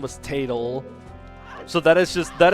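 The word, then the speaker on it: Tatl: Well, it's like, oh yeah, her name is Tatal, of course. T A T L. That's what that spells. So, like I try to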